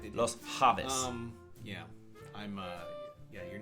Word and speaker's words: Javis: Javis, I'm assuming it's Llaves. Javis. Javis. J, they do the ha. Okay, that's right. They do. Los Javis.